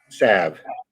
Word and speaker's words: salve: there a natural drawing salve sav i guess you don't pronounce the l on that one vegas says he stepped